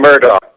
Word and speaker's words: Murdaugh: Is it Murdoch or Murdo? It's spelled like Murdo. They're saying Murdoch. I know. That's all the documentaries I've watched. That's how they pronounce it.